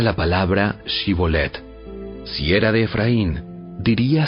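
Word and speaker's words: שיבולת: Si decía el hombre: no, no lo soy, ellos le pedían que pronunciara la palabra Shibolet. Si era de Efraín, diría Sibolet, porque a la gente de Efraín le cuesta pronunciar bien esa palabra.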